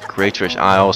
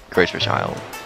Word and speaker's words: Greatfish Isle: Well, some people call it Greatfish Isle, some people call it Greatfish Island. But the official pronunciation is Greatfish Isle.